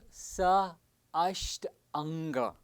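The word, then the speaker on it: Sāṣṭāṅga: Saśṭanga Namaskara, pronounced as Sa Asht Anga, where Sa means along with or together.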